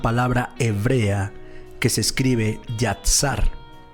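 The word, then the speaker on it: יצר: la palabra formar es una palabra hebrea que se escribe yatsar y a t s a e yasat yasar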